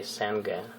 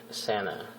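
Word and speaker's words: sanger: Please just pay attention that the letter G in this word is silent. Actually, we don't say Sanga. It's not correct. It's incorrectly. We usually say, and Australian people, of course, usually say Santa, and that's the sandwich.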